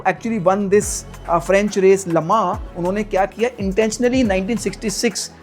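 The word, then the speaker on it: Le Mans: It's called लमा which is written S लेमन्स but pronounce लमा।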